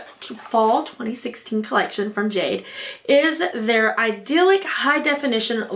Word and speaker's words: GA-DE: like it is pronounced GA - de can you see it down there on the bottom and so it looks like you would pronounce it GA de but you actually pronounce it as Jade that is the company